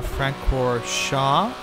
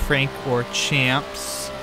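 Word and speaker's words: Francorchamps: famous Spa circuit his full name is Spa Frank core Shaw which is not pronounced Frank or Champs there's a before in the US if you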